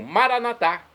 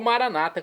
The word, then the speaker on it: Maranatá: E agora eu clamo Maranatá do dialeto de Jesus, o aramaico, como dizemos nós católicos, ou maranata, como dizem nossos irmãos das comunidades evangélicas ou protestantes. Não importa pronúncia, o significado é o mesmo.